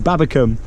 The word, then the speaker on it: Babbacombe: Babbacombe is what I've been saying, Babbacombe, not Combe, Babbacombe.